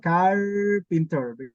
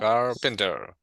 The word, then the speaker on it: carpenter: Carpenter. Because we have three syllables. Carpenter. Car over here.